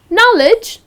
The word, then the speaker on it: knowledge: because he's intelligent so knowledge it's again the k is silent and the correct pronunciation is knowledge like with the n